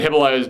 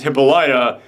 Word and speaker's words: Hippolyta: to pronounce Hippolyta, because I always used to say Hippolyta, because that, for anyone out there who's a big comic book nerd like I am, that's Wonder Woman's mother's name. So you've seen that name pop up in the books before, but if you're like me, I always pronounced it Hippolyta. I didn't know it was Hippolyta, so wow.